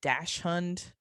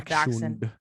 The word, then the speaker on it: Dachshund: It's spelled Dachshund, but it's a Dachshund.